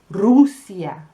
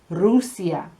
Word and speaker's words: Rusia: Okay, give me an U. Rusia, Rusia. See?